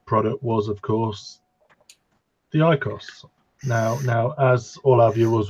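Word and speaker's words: IQOS: But either way, in Bulgaria, ICOS, how are we pronouncing it? ICOS. That's how they pronounce it.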